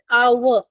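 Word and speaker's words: hour: क्योंकि जब हम प्रोनाउंस करते हैं तो हम एच को प्रोनाउंस नहीं करते। तो इसलिए हम स्पेलिंग देख के एन नहीं लगाएंगे। बोलकर लगाएंगे और इसका प्रोनाउंसिएशन है आवर। तो एन आवर right A आवर नहीं होगा क्योंकि आवर का साउंड आ रहा है ओ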